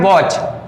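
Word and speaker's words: watch: है टी सी ह अगर टीसीएस साथ में रहता है तो इसमें टी क्या है साइलेंट रहेगा ये क्या है वॉच क्या है ना ठीक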